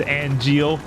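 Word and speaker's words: Angeal: Okay, it is pronounced Angel.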